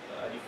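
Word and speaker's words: ألف: You read it alif, you don't say ah or no, alif.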